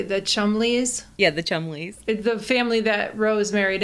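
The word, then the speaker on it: Cholmondeley: Yeah, the Chumleys.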